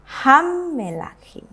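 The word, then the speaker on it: הַמְּלָכִים: Kalau yang di sini saya membaca memnya ini saya bacakan dengan bunyi e pendek ya. Hammelachim.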